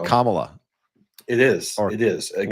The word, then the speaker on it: Kamala: I think it's Kamala, like Kamala. Kamala. Like C-O-M-A.